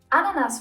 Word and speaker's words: Ananas: Ananas, for example, derives from a South American native word. The A is pronounced short, so the word should be written ananas.